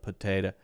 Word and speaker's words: potato: potato potato potato okay and then do you hear every single vowel the O the A and the O if you answer yes you're wrong it's not you hear this one t and then you probably hear this one oh but here you do not hear po or P you hear like that put put that is the uh uh uh that I told you is the schw sound that's the shwah sound so potato the schah